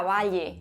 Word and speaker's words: valle: ni era seguramente posible Cómo se pronunciaba la palabra Valle sin esa e final hay varias teorías pero lo más probable probable es que se despalada O sea que en ese caso se pronunciaría simplemente una l Val vamos que el sueño